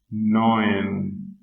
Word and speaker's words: neun: See, sieben, I-E, sieben, acht, neun, 10. Whenever E and U are together, E-U, so it has a pronunciation of oy.